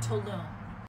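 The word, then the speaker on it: toluene: And the other thing, and I think it's called, pronounced Tolune, T-O-L-U-N-E, I'm not 100% sure.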